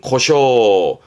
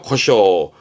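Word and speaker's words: 湖沼: 소 늪을 말하게 돼요 발음은 코쇼 음독은 쇼에요 코쇼 발음은 코쇼 해 호수와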